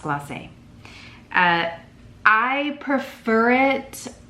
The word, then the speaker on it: Gloss: where we used Studio as the base and glass as a topper which by the way it's pronounced gloss I just realized it had like a little